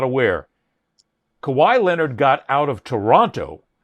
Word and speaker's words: Kawhi: Boy, Kawawaii, let's say his name, right? Kawhi. Okay. Okay.